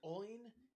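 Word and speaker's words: Oyn: Oin.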